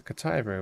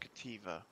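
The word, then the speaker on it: Cattiva: There's a Kataiba over there. I'm pretty sure it's pronounced Kativa. I don't know, Kataiba, Kativa. Because it's a diva.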